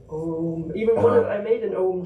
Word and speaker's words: Ogham: I was going to go around saying Ogham all of my life. I think, yeah. Yeah, and I like to think of Om.